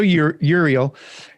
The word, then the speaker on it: Uriel: Uriel. How do you say that? Yeah, sure. It sounds like Ariel, but with a U. Right. Yeah. So Uriel.